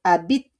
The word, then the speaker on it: habites: Next, we have tu habites. Tu habites is where you live. Okay? Tu habites. On prononce pas le H. Okay? On prononce pas le H pour the verb habiter.